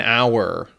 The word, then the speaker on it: hour: Words that start with a silent H, where the first sound is a vowel sound, like an hour. Be careful, right? So hour starts with the silent H.